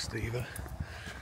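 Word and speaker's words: Stephen: Kirby Steven West and it's a pH it's not a v it's steepen pronounced steeven I don't know why we're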